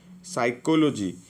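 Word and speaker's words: psychology: साइकोलोजी, साइकोलोजी रे आपनकर कौन साइलेंट अच्छी, पी साइलेंट अच्छी।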